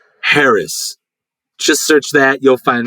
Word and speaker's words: Haracz: Just look up my name and it's spelled just like it sounds. Haracz. Haracz. Haracz.